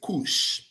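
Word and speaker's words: Cush: you come by the the word cuh how will you pronounce it Aeron is it not kush cu we end we pronounce it kush now B U S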